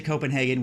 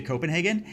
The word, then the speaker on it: Copenhagen: Now, no first visit to Copenhagen would be complete without a visit to Nyhavn. Now, it's spelled like this, but it's pronounced more like Nyhavn.